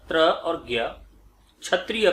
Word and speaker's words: ज्ञ: उच्चारण ज्ञ के रूप में होता है लेकिन एक्चुअल में वो है ज और इय, ज्ञ। इस तरीके से उच्चारण है इसका।